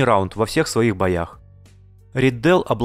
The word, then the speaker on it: Ридделл: Именно ударение на Риддел.